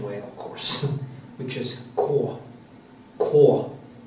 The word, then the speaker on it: Knut: it's quite funny because they say can't say k for some reason uh in the Norwegian way of course which is cor Cor not K but Cor in Norwegian it's